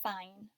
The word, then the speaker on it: fine: sounds with me i does i have the long I sound like bike yep and is there a consonant after it I mmm yep that in sound follows afterwards the first sound was